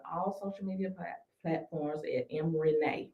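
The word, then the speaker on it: Em Renae: No, it is M is EM. Like Eminem. Like Yep. Eminem spell his name. Yep, EM. That's it. And then Renee is spelled RENAE. RENAE.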